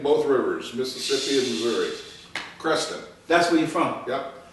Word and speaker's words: Creston: Creston, Iowa. The tallest points between both rivers, Mississippi and Missouri. Creston.